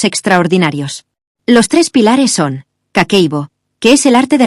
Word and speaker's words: Kakeibo: Kakeibo se pronuncia Kakeibo y en japonés significa literalmente libro de contabilidad del hogar.